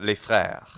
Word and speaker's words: les frères: But les, L-E-S, that S does not have a sound if a consonant follows. So les frères, the brothers. It's still L-E-S, but the S is not pronounced.